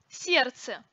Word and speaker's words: сердце: Сердце произносится без звука Д.